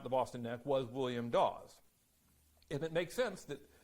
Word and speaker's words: Dawes: And, you know, when you, on an old Yankee, you pronounce Dawes and Daw pretty much the same.